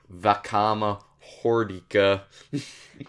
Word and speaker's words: Vakama Hordika: Unless Orion really wants to talk about Vakama Hordika. That's how you pronounce it.